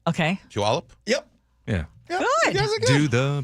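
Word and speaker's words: Puyallup: What about What is How do you pronounce the city where Brock Huard and the whole Huward family had I say Puallup. Puallup. Okay. Puallup.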